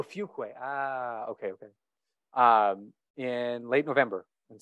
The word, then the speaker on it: Fuquay: Want to make sure I pronounced it correctly for the censors. That was pretty close. how Fuquay is it? Yes, Fuquay. Oh, Fuquay.